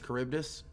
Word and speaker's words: Charybdis: James Fitzroy is the captain of the That I know how to pronounce that one. That's Charybdis.